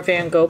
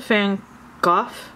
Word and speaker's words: Van Gogh: The show is nearly done, so it was kind of like they didn't have any more Van Gogh posters, so I got a different poster.